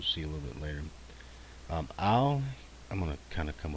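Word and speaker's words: אם: Ayin, most of the times you hear this pronounced as Im, but it's going to be an Aleph, a Tseri, and then a final Mem.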